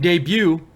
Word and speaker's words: debut: Andrew Silva says, in debut, the T is silent.